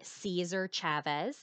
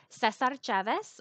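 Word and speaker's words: César Chávez: know some people say Cesar Chavez that's kind of like the English Way of saying his name he was from Mexico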